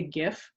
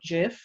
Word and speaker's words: GIF: is said gif or jif it is definitely gif because what it stands for is graphics interchange format graphics hard g definitely gif just had to get